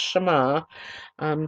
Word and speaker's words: Shema: six words began the Shema pronounced as I said it's pronounced Shama three sections of scripture